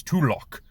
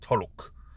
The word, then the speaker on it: Tulok: pronounced his name wrong it's tulock to lock the barbarian not toluc i mixed up the two letters my apologies to luck